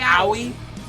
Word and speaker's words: Aoi: It's Aoi. Aoi? Aoi. Aoi. Okay, so just Aoi. Aoi, okay. Aoi Atkinson.